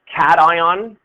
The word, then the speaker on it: cation: That's pronounced cation, and the cat part of cation comes from the name of one of the electrodes. One of the electrodes in a device like that is called a cathode.